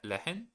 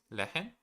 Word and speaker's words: lehren: You don't really have to pronounce the the H uh from lehren. Oh, okay. So, it's just le- lehren lehren?